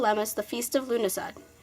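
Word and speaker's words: Lughnasadh: in Ireland they call Emeth the feast of Luna sod pronounced Louvre NASPA the feast of the Celtic God Luke occultists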